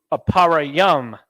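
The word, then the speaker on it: אפרים: forward next tribe is Ephraim pronounced in Hebrew aparayam a power yum this is the tribe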